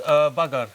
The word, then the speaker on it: bagar: How do you say bugger? Bagar, we call it bagar. That's Bengali Sylheti word, okay, but what's it?